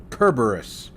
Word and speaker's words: Kerberos: It's actually Greek and would normally be Kerberos, because they didn't have a soft C sound. Kerberos, the 3-headed dog guarding the entrance to the underworld, exactly.